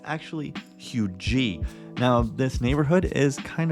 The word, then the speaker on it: Huger: neighborhood is if you never heard of Hui it's spelled h u g e r uh some people who aren't from around here like myself when I moved here pronounced it Huger but it's actually hugy now this neighborhood is kind of out in